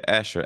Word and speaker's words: Asher: pronounce it? Yeah, Asher.